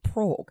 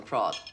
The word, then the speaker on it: Prague: is a away in Prague Although our Queen Emily pronounces it progue your grandfather called last night and told me to let you know he's bringing you back something very special from progue Wow progue but given